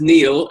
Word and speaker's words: Niall: I know you speak it as Neil.